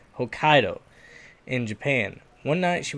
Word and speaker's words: Hokkaido: I just wanted to make sure I was pronouncing that right Hokkaido in Japan one night she was attacked by